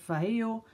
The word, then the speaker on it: Vallejo: And a lot of people have helped me out because I've even received a link to a video where they pronounce Vallejo. So I'll just keep it at Vallejo.